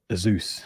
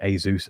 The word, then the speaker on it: Asus: was about um the I always get the name wrong azus I think I think you say Asus Asus Zenbook s13 OLED